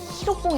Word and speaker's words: 히로뽕: 많이 등장하는 만 하겠네요 히로뽕 이라고 족 필로폰 의 일본식 발음 해 셈이죠 2차대전이 한창이던